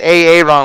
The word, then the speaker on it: Aaron: His name pronunciation, it is Aaron.